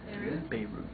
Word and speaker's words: Beirut: Beirut. Yeah, usually I've heard it long A sound, as opposed to that E type sound, Beirut, as opposed to Beirut, yeah.